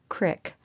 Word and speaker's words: creek: her back to the creek which Suzanne still pronounced with a long e sound instead of as Crick like the locals another way in which